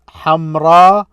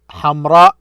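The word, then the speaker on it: حمراء: a Hamza after it notice Hamra Hamra at the end this is extended ah notice how I extend the pronouncing of it or a shortened one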